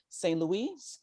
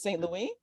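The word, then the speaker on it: Saint-Louis: in the city of saint louis excuse me i pronounced it like we do in the united states but it's st louie um so there's three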